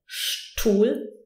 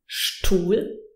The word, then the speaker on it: Stuhl: ST or SP, then the S is actually pronounced sh. So we say Stuhl, Stuhl and Spiel.